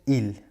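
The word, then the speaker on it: ils: çoğul şahıs onlar Fransızca'da feminelle isimler için el yine sonunda Es takısı var masküler isimler için il yine sonunda Es takısı var ama üçüncü tekil şahıs ımıza aynı şekilde telaffuz ediyoruz sondaki Es telaffuz edilmiyor Arkadaşlar bu zamirleri kullandığımızda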